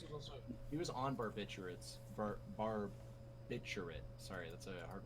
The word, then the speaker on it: barbiturate: it's barbiturate. I think that the second R is I- silent.